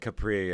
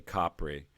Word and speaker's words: Capri: with them and yeah I said Capri it's actually Capri but I was sticking with the pronunciation given I think of it as Capri anyway we wanted clear about